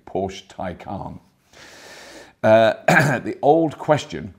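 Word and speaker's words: Taycan: hearing a lot about the Porsche Tyco on that's how you say it had to watch a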